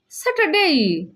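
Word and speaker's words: Saturday: And finally স্যাটারডে। স্যাটারডে। স্যাটারডে অর্থ শনিবার। শনিবার। এখানে আর এর উচ্চারণ হবে না।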